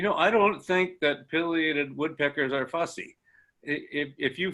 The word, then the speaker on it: pileated: the English pronunciation is pileated according to the dictionary but in Latin they're named for their crest which has been referred to as a pileus which is Latin for mushroom so if you pronounce